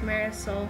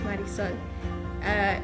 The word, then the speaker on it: Marisol: their names, such like my name would be pronounced Marisol when it's really pronounced Marisol.